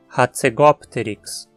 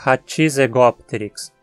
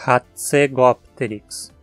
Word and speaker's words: Hatzegopteryx: Aqui temos o final pterix em vez de pteros. Mas a mesma regra se aplica porque os dois radicais são relacionados. Novamente, T se torna a penúltima sílaba, como no exemplo anterior. E como essa sílaba não tem os requisitos para ser tônica, falamos Hatzegopteryx. Tente também não dizer Hatzegopteryx. Não tem I entre o T e o Z. A pronúncia é Hatzegopteryx.